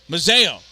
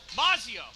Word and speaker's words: Mazzio: and shot save Lee Mazzio mazeo that's it I keep saying it wrong and I'm like that's wrong Museo I have I'm all over the place Mazzio I don't even know how to write that phonetically because it's written correctly I just keep reading it wrong one minute of